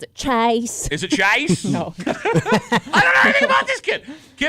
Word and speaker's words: Chyce: Kimmy, That's because you pronounce it Chase.